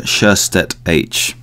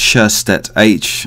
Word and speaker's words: Sjöstedt-H: Welcome to Deconstructive Criticism, Sjöstedt-H, right? The English version is Sjöstedt-H, because English people can't say Sjöstedt as I pronounce it. So it's Sjöstedt-H, and is just too long with Sjöstedt, really.